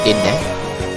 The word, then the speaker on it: Rinné: And that's how Rinné got her name, which is Rinné. So we pronounce it Rinné rather than say Rinné. And then, yeah, fall in love with her daughter again.